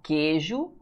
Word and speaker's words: queijo: Olha a diferença que há em queijo para tranquilo. Olha aqui, em queijo, o U não é pronunciado.